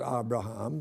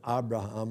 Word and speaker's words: Abraham: I'm convinced from talking to Jewish people that Abram and Abraham are the pronunciations they would use, but we always say Abraham.